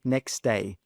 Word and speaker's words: next day: So instead of pronouncing that T sound, we simply drop it. We just say next day. Next day, not next day.